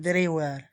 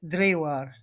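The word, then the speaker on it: draugr: Drewar. Even though it's spelled Draugar, it's Drewar.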